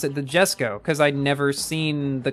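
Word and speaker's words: Jesko: Every so often, somebody still says to me, no, why are you pronouncing it Jesco? There's a J at the beginning. And I'm like, in a lot of cases, a J is pronounced as a Y.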